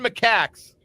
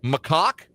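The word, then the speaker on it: macaque: They were intercepted in a car carrying 81 Macaks near the Camb Cambodian border. A macac is a monkey. And uh you might have heard it pronounced as macock. Nope. Macak. I checked.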